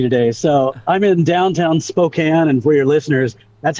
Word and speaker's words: Spokane: it's been crazy today so I'm in downtown Spokane and for your listeners that's how it's pronounced not Spokane which I usually hear everywhere else around the